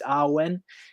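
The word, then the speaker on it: Awen: Muse in the Welsh it's called Arwen spelled a w-e-n what the the W is like a owl sound so it's R when and he invokes um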